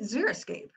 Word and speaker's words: xeriscape: as much water and to help you remember how to pronounce it because everybody mispronounces this word just think about these terms so xeric environments are deserts xerophytes are desert plants xerox now that's one you should remember xerox that's a dry copy is your escapes those